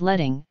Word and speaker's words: leading: below a font or line spacing pronounced as letting normally used to separate